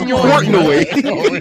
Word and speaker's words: Portnoy: Is that Dave not- Minoy. That nigga name is Portnoy. Is it? Come on, bro. Look how you said that nigga name, yo. You got no respect for that nigga, yo. Portnoy, whatever his name is.